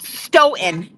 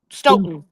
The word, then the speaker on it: Stoughton: it's called Stoughton. So don't pronounce your T's. So Stoughton. Stoughton. Don't pronounce the second T.